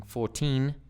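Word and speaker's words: fourteen: my students get confused have problems with defining 14 and 40 okay it's Dum d d dum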